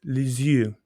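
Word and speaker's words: Lisieux: he sat there and made me try to pronounce it correctly for like, I don't know, it was probably a solid minute. And he would go, say it like this, les yeux. And I would go, les yeux. And he'd go, no, no, no, les yeux.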